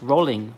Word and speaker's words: Rowling: Rowling is pronounced rolling, like a rolling, like a rolling pin.